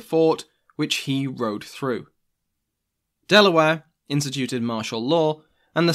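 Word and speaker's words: De La Warr: thomas west the third baron de la war delaware which is how i'm going to be pronouncing his name forced the survivors to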